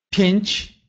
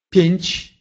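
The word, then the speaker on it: pięć: Или «рэнчны», «рэнчны», «ручной», «пенч», «пенч», «пять».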